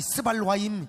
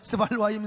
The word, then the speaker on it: 스발와임: 하맛 왕과 아르밧 왕과 스바일 스 아니 스발임 아이 좀 좀 그래 발음을 잘해야 돼요. 스발와임 성의 왕과 해나와 아와의 왕들이 다 어디 있느냐?